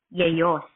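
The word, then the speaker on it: Ἰησοῦς: According po doon sa pronunciation niya sa Greek, Yeyos.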